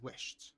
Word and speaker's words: wished: Pay attention that the pronunciation of wish in the past is wished with a T sound because of the sh sound here.